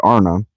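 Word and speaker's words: Ana: The word Arna, pronounced broadly Arna, corresponds with our plural men.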